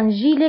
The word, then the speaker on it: gilet: هنا أيضا جيلي كنكتبها بالت في آخر الكلمة ولكن لا تنطق ان جيلي.